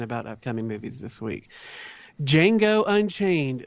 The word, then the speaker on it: Django: upcoming movies this week Jango Unchained the D is silent now this is a